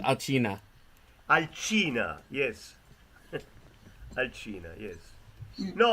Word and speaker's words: Alcina: Alcinda. Arcina. Alcina.